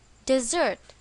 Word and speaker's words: desert: the correct answer is Desert to Desert you is the last thing I do where is the stress in this word on the second syllable desert to Desert you